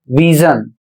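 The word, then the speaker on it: vision: अगला शब्द है वी आई एस आई ओ एन और इसे पढ़ा जाता है विजन और इसका अर्थ होता है दृष्टि।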